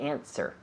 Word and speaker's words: answer: The Answer. answer. Answer. Yeah, the W is silent.